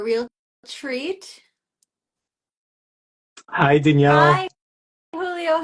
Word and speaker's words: Jiulio: And the first name is Julio, but 99% of people get it wrong. Julio.